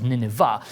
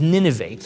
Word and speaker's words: Nineveh: in some context you may have heard it pronounced as nineveh but its proper pronunciation is nineveh nineveh was at the time the biggest city